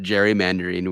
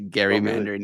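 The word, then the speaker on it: gerrymander: reading an article about Jerry mandarine where apparently that Jerry Mander is named after a guy named Gary and so it's actually Gary Mandarin and so now I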